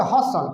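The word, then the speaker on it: hustle: बसले नहीं पढ़ोगे, ई का उच्चारण नहीं होता है। इसको बोलोगे हसल, क्या बोलोगे हसल, इसको बोलोगे पसल, इसको बोलोगे नेसल, इसको बोलोगे एपिसल, क्या बोलोगे एपिसल।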